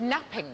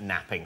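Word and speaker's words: knapping: no but you're right it begins with a silent k what we made early tools what do we make them out of Flint napping napping napping yes Flint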